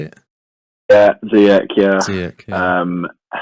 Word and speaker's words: Ziyech: Yeah, Ziyech, yeah.